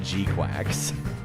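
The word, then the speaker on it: GQuuuuuuX: They say to pronounce it G-Quacks.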